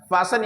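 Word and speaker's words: fasten: ई एन यहां भी हम कहते हैं इसे फैशन फसन यानी तेज यहां प हम टी ई एन होने पर एस टी ई एन होने पर हम दोस्तों यहां भी टी को रीड नहीं कर रहे हैं अब अगला देखते हैं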